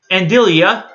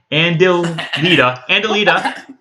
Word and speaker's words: Andalita: I'm Andilia. She can't pronounce her own name, apparently. Andalita. Yeah.